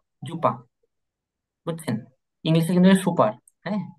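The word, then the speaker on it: Super: এবার আরেকটা জিনিস দেখেন শব্দের শেষে যদি এ আর থাকে একসাথে এ আর তাহলে উচ্চারণ হবে আ এর মত কিসের মত আ এর মত মানে শেষের এ এরটা আর উচ্চারিত হবে না আর এটা আবে যেমন যু জুপার এখানে কিন্তু জুপার না এটা জুপা জুপা বুঝছেন ইংলিশে কিন্তু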